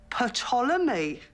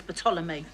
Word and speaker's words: Ptolemy: The P is silent, as in psychopath, Sharon. Why is it silent? But it's from the ancient Greek.